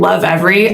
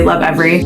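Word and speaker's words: Lovevery: really like the brand Love Every. I have no idea if I'm pronouncing that wrong. It's Love and then Berry, but when you combine it, I say Love Every.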